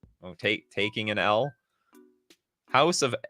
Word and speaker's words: El: what so oh eel pronounced like the L that one might take take Taking an L House of L uh